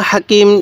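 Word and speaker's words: حاء: যায় এরপরে হা এই এটা হলো বড় হা এই হা টা উচ্চারণের সময় আমরা মুখ দিয়ে হালকা বাতাস বের করব তবে হা আর জিমের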